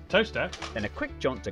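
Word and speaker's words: Towcester: to mousehole mouthhole next travel north up to tower sester toaster then a quick jaunt to gotham goatum followed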